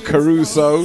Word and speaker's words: Kharuso: The name is spelled K-H-A-R-U-S-O. That's K-H-A-R-U-S-O, Caruso.